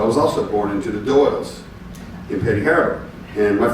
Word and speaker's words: Doyle: And Renee knows the Doyles from Petty Harbour, or Dials, as it would be pronounced in Petty Harbour, were the minstrels of the town, right?